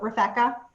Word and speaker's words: Refecka: the very beginning so it's like rebecca but with an f so refecka so when you reach